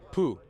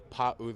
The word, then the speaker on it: Pau'u: They couldn't pronounce Pau'u. They pronounced Pooh. So other Pooh was my name.